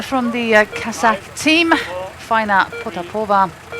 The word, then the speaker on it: Potapova: A rider from the Kazakh team, Faina Potapova. It's usually the emphasis on the penultimate syllable.